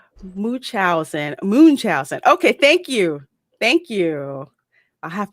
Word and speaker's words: Munchausen: And it's Munchausen. Okay, thank you. I'll have to remember how to pronounce that from now on.